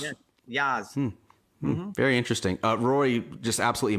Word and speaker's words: Yas: Yas Links, is that how you pronounce it? Yas? Yeah. Yas.